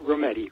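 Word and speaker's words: Rometty: is pronounced r Virginia retti rhymes with spaghetti I know this because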